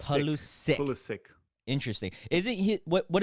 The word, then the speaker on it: Pulisic: But how do you pronounce Christian Pulisic? Is it Christian Pulisic? So it's Pulisic.